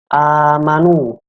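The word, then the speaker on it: آمَنُوا: Amanu. A di sini dibacanya panjang, panjangnya itu 2 harokat.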